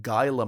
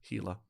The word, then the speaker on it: Gila: It's spelt Gila, and one of I believe a Do Go On listener actually corrected my pronunciation because I was saying Gila monster, and they went Gila, like that.